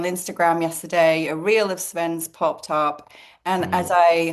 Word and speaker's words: Sven: to actually I didn't even ask how to pronounce your name but Sven is the first name. Yes, yes, that's right. Sven.